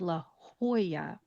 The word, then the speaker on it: La Jolla: So it becomes La Jolla, Jolla when you pronounce it.